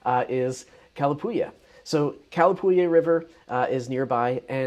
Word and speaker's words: Calapooia: order a beer, because I don't want you to mispronounce it Kalapuya or something like that. Kalapuya.